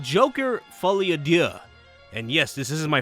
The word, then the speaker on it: Folie à Deux: It's called Joker Folie à Deux.